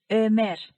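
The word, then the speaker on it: Ömer: Next है अमेर, उर्दू में उमर कहते हैं मगर अमेर तुर्कचे में।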